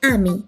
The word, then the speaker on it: 아미: Un dato curioso es que BTS en su idioma original no pronuncia ARMY, sino que dice AMI. Y de hecho, cuando lo escriben en coreano es AMI.